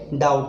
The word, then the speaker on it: doubt: इसके अंदर भी आपका गवर्नमेंट के अंदर गवर्नमेंट पढ़ते हैं इसको, R और N का उच्चारण नहीं आता, DOUBT डाउट इसमें बी साइलेंट है।